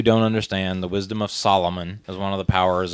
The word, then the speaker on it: Solomon: And for those who don't understand, the wisdom of Solomon is one of the powers of Shazam, but when they were trying to go through the power, somebody pronounced it Solo Man because they don't know who Solomon is.